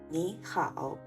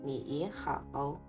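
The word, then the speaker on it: 你好: 比如你好、美好、理想、勇敢，请不要读成你好、美好、理想、勇敢。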